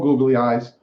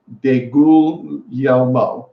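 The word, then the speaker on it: DeGuglielmo: coach is Dave calm googly-eyes but you actually pronounce it day Google yell mo then ghoulia mom he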